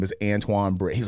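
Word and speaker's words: Antwain: very unique um but Antoine is a little bit different Antoine and my name is spelled weird my name is spelled ant w a i n so it's spelled an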